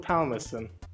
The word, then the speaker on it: Palmerston: I'd say Lord Palmerston. Yeah. Palmerston. Lord Palmerston. Don't pronounce the L in palm.